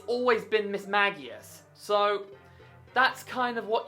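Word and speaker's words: Mismagius: Plus, in the anime, it's always been Miss Magius.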